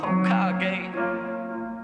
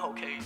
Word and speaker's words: Hokage: that, Stats of Hokage, pronouncing it right, Hokage, not Hokage.